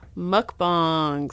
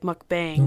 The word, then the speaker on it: mukbang: do you know about mukbangs oh could I pronounce it right it is that's so it's Korean I look you know I listen to a Korean pronunciation of it a lot of people